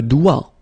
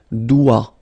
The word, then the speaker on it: doigt: Le doigt. Okay, so don't be frightened by this G because basically you don't pronounce it and then the final T you don't pronounce it. So the only thing you get to pronounce